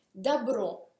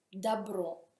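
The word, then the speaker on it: добро: Dabro, il bene, dabro. Anche qui si scrive dobro, ma si pronuncia dabro, il bene.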